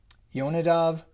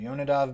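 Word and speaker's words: יונדב: the really English way, Jonadab, son of Rechab. Or how would you say it? in Hebrew, I'll show you the Hebrew here. It's Yonadav ben Rechav. That's how you say it in Hebrew, Yonadav ben Rechav.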